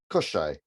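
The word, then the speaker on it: Koschei: Koshai.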